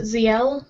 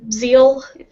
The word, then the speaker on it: Ziel: Me, I pronounce it Ziel, or Zeal.